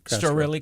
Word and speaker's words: Storelli: Storella Castro. So City Manager Storelli Castro was there. Am I saying it wrong? I'm sorry? Am I saying it wrong? I say Storelli Castro. Storelli Castro.